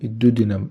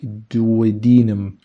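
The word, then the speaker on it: duodenum: وفي الاثن عش او الدودينم او الدودينم انطقها زي ما تنطقها ممكن كمان يكون موجود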